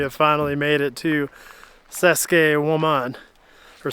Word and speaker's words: Saqsaywaman: After an unnecessarily strenuous hike up here, we have finally made it to Saskuke Woman or sexy woman. It's pronounced like that, so don't judge me in the comments.